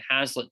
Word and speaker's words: Haslet: to us here in Hazlet, Texas. The address is 1500 capital F, capital M, 156 South, Hazlet, Texas, 76052. Hazlet is spelled Haslet.